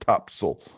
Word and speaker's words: Topsail: top cell top sale that's how it's spelled but it's but it's pronounced top soul it's in north carolina